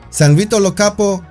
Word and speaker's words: San Vito Lo Capo: San Vito Lo Capo is pronounced exactly as it is written, but with a strong Italian accent. San Vito Lo Capo can be visited as